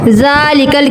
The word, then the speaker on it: ذال: پاک۔ تو ناظرین اب ذال کا تلفظ بھی سیکھ لیں۔ زبان کی نوک جب اوپر سامنے والے 2 دانتوں کے سرے کنارے سے لگے اس سے ذال ادا ہوتا ہے، جیسے ذال۔ ناظرین یہ بات یاد